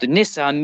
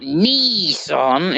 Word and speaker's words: Nissan: ever made um they're made by a company called nissan not nissan as you guys call it um they are the